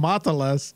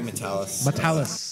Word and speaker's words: Matalas: hard especially since we've been calling him matalas for like a year now yeah here's his name right here my name is Terry matalis there we go I